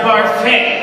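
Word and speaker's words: Barfée: It's pronounced Barfey, isn't it?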